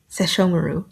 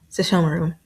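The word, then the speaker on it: Sesshomaru: Sashomaru. Jesus Christ. There we go. So if I don't think about it, I can say it perfect. Sashomaru.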